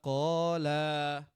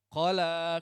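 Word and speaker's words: قلى: Banyak orang yang bacanya salah di ayat qala ini. Ma waddaaka wama qola qola. Itu salah. Padahal kosakatanya harusnya qala kan gitu.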